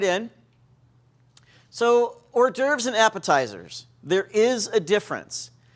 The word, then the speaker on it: hors d'oeuvres: And I want to mispronounce it hors d'oeuvres, but that's not it. It's hors d'oeuvres, because I don't speak French.